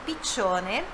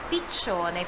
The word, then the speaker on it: piccione: Olha só a pronúncia de piccione, piccione. Dois Cs tem esse som, né? Você sabe que o CI ou o CE tem o som de TI ou de TCHE.